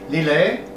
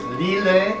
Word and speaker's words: Lillet: It's called an L&T and it's simply lillet and tonic water.